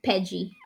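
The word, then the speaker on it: PEGI: In Italian, it's like pronounced Peggy.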